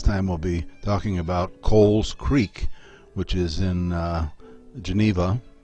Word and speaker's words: Cowles: the late 18th century, a man named Noah Cowles, again spelled the way that this creek is spelled, C-O-W-L-E-S, but pronounced Cowles, came to United States in 1799